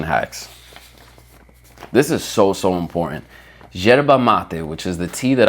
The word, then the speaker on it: yerba mate: With a Argentine accent, it's yerba, but super American or English, you would say yerba, right? YERBA, yerba mate. Boom. You'll never hear me say it like that again. It's yerba mate, okay? I want you to say it correctly too. Enhance your culture. Speak the way that it's supposed to sound, okay?